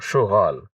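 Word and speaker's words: شو قال: সুগাল সে কি বলল এখানে কল আমরা কফকে গায়ে উচ্চারণ করব তাহলে আমরা বলব সুগাল সে কি বলল কি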